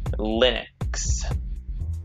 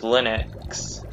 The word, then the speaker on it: Linux: this recording he pronounces linux linux with a with a short but close unrounded front vowel commercial and popular uptake